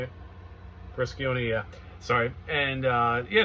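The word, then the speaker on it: Briscione: brison brison is that how you say it brison yeah sorry and uh yeah check this out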